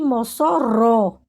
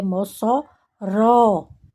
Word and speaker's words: Mossoró: Maringa você diz Maringá então G é a sílaba tônica mangua quá e Mossoró você não diz a CBA T se fosse